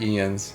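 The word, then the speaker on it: Jens: One day, all will know the name of Ian's, the greatest smithy the realm has ever seen. I've been saying his name wrong the whole time, I guess. It's like Ian. It's like Ian's.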